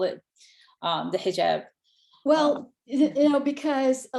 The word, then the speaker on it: hijab: the united states yes now help me uh pronounce it correctly i don't know if i did earlier it's hijab headshot okay yes but you did a good